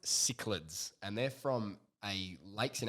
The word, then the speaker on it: cichlids: And it's pronounced cichlids, and they're from lakes in Africa, and they're like the hardiest fish.